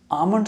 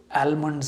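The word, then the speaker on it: almond: Indians आमंड को सही से प्रोनाउंस क्यों नहीं करते हम आमंड को आलमंड या आलमंड क्यों कहते हैं यह सवाल मुझसे जहां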